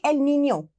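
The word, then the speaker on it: El Niño: It's actually El Nino, okay, in Spanish. That is how we pronounce it, and the other one is La Nina.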